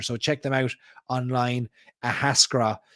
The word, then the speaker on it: Ahascragh: Ahascra. It's a tough one for the old American spelling there and pronunciations. Ahascra.